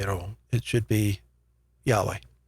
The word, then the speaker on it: Yahweh: It should be Yahweh, right?